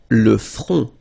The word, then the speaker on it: le front: Final T not pronounced. Le front.